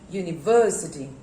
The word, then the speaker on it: university: are three syllables and the last one university university so how many syllables are there u me ver c t so how many syllables are there five syllables up here you need the city and where to put the stress university university so you have put the stress on verb okay so now stress